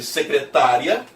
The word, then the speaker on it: secretária: A diferença entre secretária e secretaria. Em secretária, a sílaba tônica é o tá.